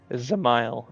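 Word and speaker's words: Dzemael: So the D is silent. Zamile.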